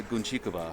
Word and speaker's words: Guncikova: So it's essentially Gabriela Guncikova. Oh, very nice. Awesome pronunciation.